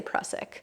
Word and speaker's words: Prusik: So there is a Prusik knot or Prusik knot, how do you pronounce that? I say Prusik.